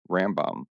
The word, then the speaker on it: Rambam: In Hebrew, the initials of his title and name, Rabbi, M O E Ben Mang, combined to form Ramben, pronounced Rambam.